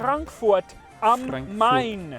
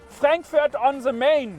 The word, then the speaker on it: Frankfurt am Main: Frankfurt am Main. And not pronounced Frankfurt on the Main.